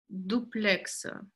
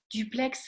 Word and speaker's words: duplex: И дуплекс. Дуплекс. Дуплекс. Ну, дуплекс. Дуплекс. Дуплекс. Дуплекс. Потому что это не французское, мне кажется, слово. Они погружены. Может быть, потому что П потом. Дуплекс. Дюплекс, не слышала, что вы произносили так.